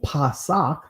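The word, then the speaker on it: Pesach: Easter right because truly when we say Passover or pasak right that's the ancient Hebrew pronunciation pasak pasak occurs the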